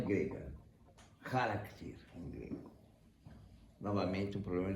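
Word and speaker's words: χαρακτήρ: Charakter, em grego. Novamente, um problema disléxico dos latinos. Eles não conseguiam pronunciar essa consoante, o r. Em grego não é ra, é r. É aqui no céu da boca.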